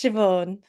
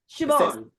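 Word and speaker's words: Siobhan: case you were wondering about how to pronounce my first name as well that's why I'm calling you miss Spooner it's shobon shabon yeah I thought so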